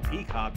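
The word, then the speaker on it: PCOC: paranormal contract's oversight commission pronounced peacock for short headed by walter peck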